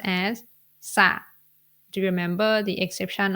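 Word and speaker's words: สระ: should be pronounced as sa do you remember the exception of the cluster when the S consonant Follow by R cluster the ra is silent so you need to pronounce this word as sa this word means pool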